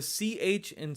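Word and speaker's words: च: on how to properly pronounce this letter use the word staunch heart staunch art the CH and staunch and the H and heart if you combine those two sounds together you'll get the accurate pronunciation staunch heart cha-cha ston chart so that is the letter cha this is a letter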